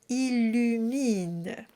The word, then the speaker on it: illumine: are very similar, but be sure to have a pure vertical E sound at the end of each word. Mine. So if it goes a little flat, you might end up saying illumine. It sounds mean. So you want to make sure it's illumine.